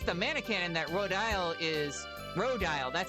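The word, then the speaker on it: Rodyle: Maybe it's the mannequin that Rodile is Rodile, that's how you say his name, is building.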